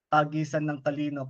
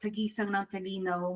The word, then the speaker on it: Tagisan ng Talino: Well, we have the CWS, or Children's Worship Service, Tagisan ng Talino cluster level. For people like April. myself and Brother Chris, can you just tell us what Tagisang ng Talino means?